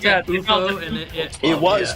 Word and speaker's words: UFO: So wasn't that pronounced UFO? Didn't they pronounce that UFO? And it was pronounced UFO, but I never knew that until like 2 or 3 years ago.